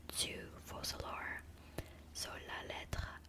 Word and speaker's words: lettre: So lettre means letter. It is basically the same word as in English, but you switch to letters and the pronunciation changes a little bit.